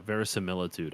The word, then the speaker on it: verisimilitude: Yeah, verisimilitude. I think that's how you say it. It's pronounced very similar, dude.